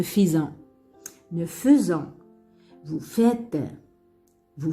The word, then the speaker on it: faisant: Malgré AI, mais on dit ne faisant. On ne peut pas prononcer ne faisant.